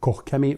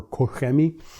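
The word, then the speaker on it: Koch-Chemie: the way fine cut by kohukami or koshemi koch kemi however you want to say it i know my german viewers out there you guys love to pronounce it kokemi or kohemi and then you're going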